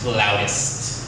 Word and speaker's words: flautist: show, and she's like, I said flutist, and the girl's like, it's pronounced flautist.